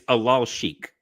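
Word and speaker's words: Alalshikh: By the way, it's Alal Sheikh.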